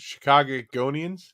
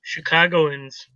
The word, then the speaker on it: Chicagoans: Wait, how you pronounce it? Chicagonians? Chicagoans.